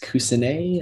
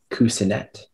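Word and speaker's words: coussinet: more time uh yes the word is kusinay an alternate pronunciation of cousinette it is a noun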